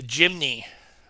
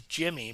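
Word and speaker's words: Jimny: this is the the jimy I actually thought it was Jimmy but it's spelled j i m n y it's the uh FMS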